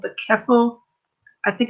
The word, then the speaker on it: Ceffyl: it correctly, but I think it's called the Keffel. I think it's pronounced Dur.